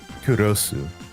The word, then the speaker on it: Kurosu: That's because in Japanese what her name actually is is Kurrosu is how it's pronounced. So Oh, that's why depending on how you look at it, Kurosu.